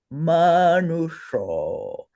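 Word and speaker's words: manuṣo: So you say shra, shra, manusho. So that is why you pronounce it with a sh and not a plain S.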